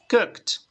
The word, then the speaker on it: cooked: En este caso tienes cook con K y termina en T. Cooked.